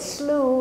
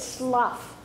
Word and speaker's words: slough: Now, some of you said slew and some of you said slough. That's actually both pronunciations, and we'll talk about that in a minute.